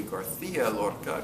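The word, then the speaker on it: García Lorca: And going through the scripts, we distinguished between a Mexican and a Castilian pronunciation because you have to say Garcia Lorca because he's Spanish, but the Mexicans do not do the th.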